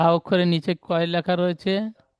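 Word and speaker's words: ر: ভাষায় মুখ গোল করে তাহলে রা বলবেন না রে বলবেন না র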